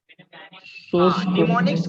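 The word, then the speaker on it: mnemonics: Assembler तो translator है, निमोनिक्स कहते हैं उसको, निमोनिक्स कहते हैं। एम साइलेंट रहता है, एम साइलेंट रहता है, निमोनिक्स, ठीक है।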